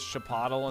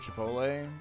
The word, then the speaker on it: Chipotle: How come every boomer says Chapatle instead of Chipotle?